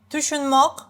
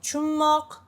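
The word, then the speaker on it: tushunmoq: Tushunmok, which I read like chunmok, because in some regions, especially in the capital, it's shorter, chunmok, right? It's tushunmok, 3 syllables, but sounds like chunmok, 2 syllables.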